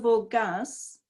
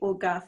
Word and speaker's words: Orgaz: The burial of the Count of Orgaz, it's probably Orgath actually, O-R-G-A-Z, is usually considered amongst